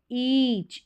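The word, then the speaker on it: each: ईच ई ए बड़ी ई के रूप में, और ये ईच और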